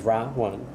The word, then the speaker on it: Rawan: Like Ra Wan. R A Okay. and then W A N, but like one.